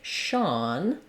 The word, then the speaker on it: Sean: S-H-A-U-N, S-H-A-W-N, or S-E-A-N, and it has the ah vowel. So I've rewritten that for you here with letters A-W, like in the word law, and this is an example of letter S saying the S-H sound.